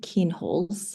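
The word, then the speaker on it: Kienholz: We've got a question from Gary Pearson and they are asking asking, "I'm wondering where you'd place um Edward Keenholes." I'm sorry if I'm pronouncing that wrong.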